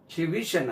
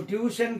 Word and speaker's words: tuition: அதே மாதிரி tutorial, tutorial இல்லது, tutorial, tutor, tuition. அது எப்படி உச்சரிப்பு? tuition, tuition, இதான் ஸ்பெல்லிங். இதுக்கு உச்சரிப்பு டியூஷன் கிடையாது, tuition. Stress lies on the second syllable.